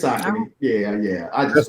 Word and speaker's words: Saucony: I hope you got some Brooks on, or some Sauconys, or some some Hokers or something.